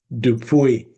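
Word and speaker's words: DuPuy: Tell me about Mayor Virginia, and I'm not sure how to say her name, DePoy? De- DePoy.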